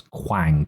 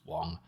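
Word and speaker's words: Kwang: overly harsh here the character's name was indeed Quang but I think someone may well have pronounced it Quang at some point during the episode which is why Abby thought that his name was Wong um however I don't know what the [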